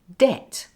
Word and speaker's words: debt: silent then there are words like debt and subtle where the B is before a t it's just too difficult to say and subatul try this